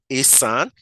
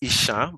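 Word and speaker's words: Esan: I am Asan. People call us Ishan, but we are actually Asan. Ishan is just the wrong spelling and pronunciation by the colonial masters.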